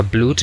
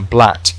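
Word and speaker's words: blood: No se pronuncia blut ni nada por el estilo, sino blat, ¿vale?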